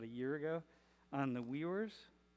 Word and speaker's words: Uyghur: year ago, on the Uyghurs. How do you say that? The Uyghurs, the Muslim group? Weiwar. Uyghur? So in English, people say Uyghurs, but in Mandarin, you say Uyghur.